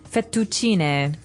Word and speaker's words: fettuccine: What about fettuccine? Fettuccine. Oh, it's fettuccine. Fettuccine. In American, we say fettuccine.